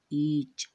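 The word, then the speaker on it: each: जैसे यहाँ पर देखिए, ई के बाद ए है, अर्थात ए को नहीं पढ़ा जाएगा, क्योंकि यहाँ पर ए साइलेंट होगा। तब हमें ई सी एच इन्हें पढ़ना है और इनका उच्चारण होता है ईच।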